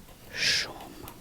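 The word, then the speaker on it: shumë: You can say, you don't need to say the you can say shum, shum, which is like zoom.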